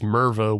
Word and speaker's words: Mervo: And then he introduces himself as Mervo, which rhymes with Pervo.